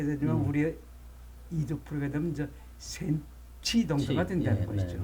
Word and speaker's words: 센치: 그러니까 그 문헌상에는 신지라고 된 것이 우리 백제 발음으로는 센치.